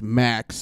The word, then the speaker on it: Max: Yep, he's a fantastic dude, and that's why his name is Max, because he gets the maximum. Results. And it rhymes with the axe, so Max the X maximum.